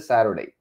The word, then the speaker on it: Saturday: En vez de der, pronunciamos Saturday, el T-U-R, Saturday, ¿verdad? ¿No les había pasado eso? Yo creo que cuando yo lo vi, nunca nos habíamos dado cuenta que es der. Fíjense, la pronunciación es der.